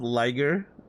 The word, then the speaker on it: Liger: What's up, liger? Lier rhymes with tiger.